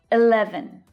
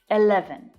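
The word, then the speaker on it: eleven: 11, 11. Now, 11 rhymes with 7, so that's the last syllable pronounced in exactly the same way. 11, 11. But notice that the middle syllable is the strongest.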